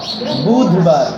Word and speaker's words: বুধবার: ওকারের মতো উচ্চারণ, মঙ্গলবার, বলেন দ না, কিন্তু ধ, বুধবার, কিন্তু আমরা বুধবারই বলি বেশি, তাড়াতাড়ি বলতে গেলে বুধবারই বলি।